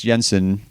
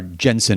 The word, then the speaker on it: Jensen: I have that same obsession with Danish filmmakers, and so Anders Thomas Jensen. Or Jensen, if I want to pronounce it with my American tongue, I guess.